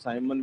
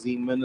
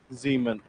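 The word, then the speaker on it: Siemens: more or the thing is that it's not Simon. You are supposed to read this one as Zmen and Zmen. Yes S is pronounced as Zed.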